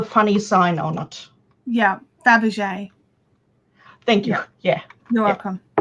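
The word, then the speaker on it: Fabergé: e with a funny sign on it yeah dabjay thank you yeah you're welcome yeah like the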